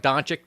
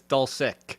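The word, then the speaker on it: Dulcich: I thought it was I thought it was like Don chick too it's dull sick sick okay so they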